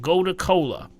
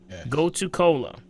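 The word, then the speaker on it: gotu kola: you but my second one would be called go to Cola go to Cola go to Cola very good would you spell that again please g-o-t-u-k-o-l-a go to Cola okay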